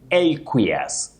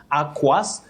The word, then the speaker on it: aqueous: You say aqueous. Aqueous. Just like when you talk of aqueous lotion, not aquas, not aquas, not acquis. We have had so many versions, but learning is great because nobody can know everything at once.